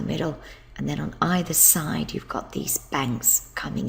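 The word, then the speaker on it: 水: part of a day of the week it's pronounced SI and you can see it over here water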